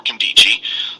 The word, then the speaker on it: Nkemdiche: It's called Streaky for Kendichi. If you don't know how to spell its name, it's Nkemdiche. The N is silent.